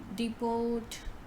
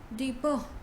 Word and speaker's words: depot: is this right so instead of saying deport or depot the correct pronunciation is deeper next word is this